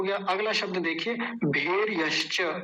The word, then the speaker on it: भेर्यश्च: अगला शब्द देखिए भेर यश्च। भेर, भेर भेर में र आधा होगा ये क्योंकि ऊपर चढ़ा रखा है ये यहाँ पर तो ये आधा ही होता है। भेर यश्च, यश्च तो वही है पहले जैसा ही भेर यश्च।